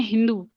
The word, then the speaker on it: हिंदू: तो वहां पे जो सिंधु रिवर थी उस टाइम पे, उसको वो प्रोनाउंस करते हैं हिंदू।